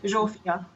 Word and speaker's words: Zsófia: How do you pronounce? More or less, Zsofia.